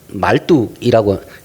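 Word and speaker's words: Marduk: 우상들을 다 섬겨요 근데 최고의시는 말뚝이라고 발음이 말뚝이라서 땅에다 박는 말뚝이 아닙니다 말뚝이라고 하는 신이 최고의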